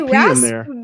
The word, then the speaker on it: raspberry: different yep you say raspberry berry there's a p in there yeah okay it's a silent p i see it so